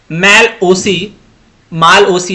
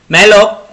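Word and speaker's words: malloc: अगला question, question number 70, memory एलोकेशन using माल ओसी या कुछ भी आप इसको प्रोनाउंस कर सकते हैं। मैलॉक इज डन इन, ये किस में होता है?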